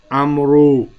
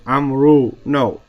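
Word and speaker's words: عمرو: you go to Egypt, you'll find people pronouncing their name Amru. My name is Amru. As if to make that long. Amru. No. His name is Amrun. Amrun.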